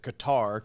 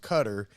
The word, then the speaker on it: Qatar: what a joke okay cutter uh the country cutter it looks like i always pronounce it qatar q-a-t-a-r but it's pronounced cutter um there was a